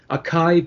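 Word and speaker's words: açaí: he made quote-unquote healthy acai berry meth have you ever had a kaiba so rachel from from from what i can ascertain it's acai it's how we pronounce it i i do i'm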